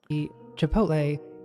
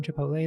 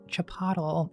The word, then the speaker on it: Chipotle: I remember when suburban moms could not pronounce the name Chipotle. They were like Chapatle.